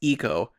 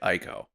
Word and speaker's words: Ico: But so the only thing is that, and I believe it is pronounced eco, despite your stubborn attitude toward pronouncing it Ico. I'm sure that it is eco.